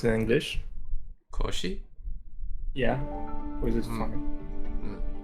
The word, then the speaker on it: Cauchy: I think it's because it looks like the English word um it almost looks like crunchy. That's I think I think that's why people in English kind of find it hard to pronounce it correctly. Oh, sometime also I heard as if it was like some kind of couch. Oh, couchy. Yeah.